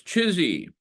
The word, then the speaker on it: CHSI: one word um but the acronym emerging here is chsi which we pronounce chizy all right okay so